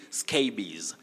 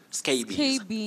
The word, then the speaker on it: scabies: scabies that plural s the plural s is pronounced like a z it takes what we